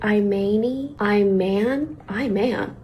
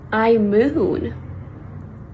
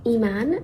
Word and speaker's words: Imane: Anyways, the correct pronunciation is in French, eman, and in Arabic, eman.